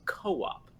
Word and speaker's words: co-op: they're just like dude you're pronouncing it wrong it's Co-op just say Co-op like you you guys